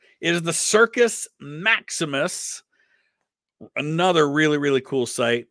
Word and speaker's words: Circus Maximus: it's uh so yeah cherko Max maimo is how how it would be said in Italy but yeah it's um you're in Italian it's circus Maximus um so yeah I